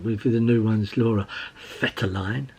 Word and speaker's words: Vetterlein: We had sort of a lot of defenders, and she found with the new ones, Laura Vetterlein, as I've been told it's how you pronounce it. Like an F, Vetterlein?